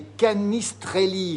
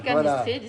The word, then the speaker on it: canistrelli: Regardez, les canistrelli. Je prononce mal. Hein. Les canistrilli, c'est bon.